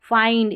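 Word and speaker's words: find: जैसे चाइल्ड, इसमें चिल्ड नहीं, काइंड इसमें किंड नहीं, फाइंड इसमें भी फिंड नहीं, और माइंड इसको भी मिंड नहीं पढ़ेंगे नियम के अनुसार।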